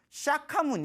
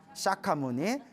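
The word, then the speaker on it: Śākyamuni: 출연하신 성자 다해서 석가모니 인도 말로는 샤카 문 이라고 해요 샤카 뭐니 그래서 이제 우리 발음 얻은 석가모니 라고 하는데 내 입 지금 우리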